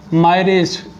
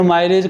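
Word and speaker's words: mirage: Second point, मायरेज, जिसको कोई pronunciate करता है, मिराज भी बोलता है, मायरेज, इसको हिंदी में बोलते हैं हम मृग तृष्णा।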